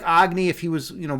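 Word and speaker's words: Agni: Agy, like like the king of the fire gods. empowered by Taki whose supreme wisdom burns all delusion except I pronounce my name Agy and he pronounces his name Agny.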